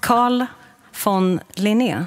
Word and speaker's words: Carl von Linné: Carl von Linné.